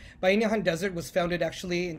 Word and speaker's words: Bayanihan: I am I've been really interested it's it's pronounced by nihan by inihan desert was founded actually in 2019 after the